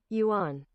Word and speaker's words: yuan: Not the yen, because that's the Japanese. Yuan. The yuan, right? Okay, that's how you say it.